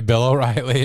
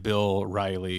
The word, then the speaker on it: Bill Riley: isn't that their names I always say it wrong cuz I think of the cable show host so I say Bill O'Reilly and people are like really no I think it's that an and Bill Riley I like Bill Riley